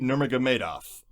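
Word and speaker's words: Nurmagomedov: cowboy Cerrone versus kabib nurmagamedov you said it right nice oh yeah I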